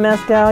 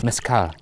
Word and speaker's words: mezcal: dong throw in some mescal you know about i believe it's pronounced mascara oh sorry we're here